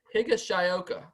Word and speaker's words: Higashioka: Kyle Higashioka is how you say his name.